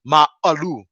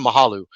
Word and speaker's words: Ma'alu: I'm from, and so it's actually pronounced Ma'alu. And that's what it means, but we everybody calls it Mahalu, and we even call it Mahalu because it's just easier for everybody to say and understand.